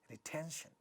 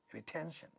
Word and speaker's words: retention: In a word like retention, three syllables. The stressed syllable has voiceless stop, ta, at the syllable initial stressed syllable initial position in a stressed syllable. Therefore, it gets aspirated and we have a word sounding like retention, retention. Impossible, four syllables.